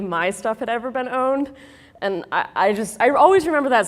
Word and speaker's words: pwned: Well, it turns out that there are a lot of these owned passwords. Owned, by the way, spelled with a P, is the hacker way of spelling owned, but you keep the P silent, and if you do